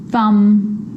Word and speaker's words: thumb: with the letter B it's always silent when it follows the letter M Clym crumb lamb thumb dumb and plumber so practice them with me I'm not pronouncing the B I'm just pronouncing the M consonant sound Clym crumb lamb some